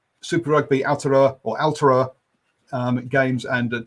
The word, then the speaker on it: Aotearoa: Sky could say Aotearoa, and it's not Aotearoa, it's Owl, O-W-L, Aotearoa. Was how she phonetically put it. Hopefully, I'm getting somewhere near it, guys. Who put it? Aotearoa.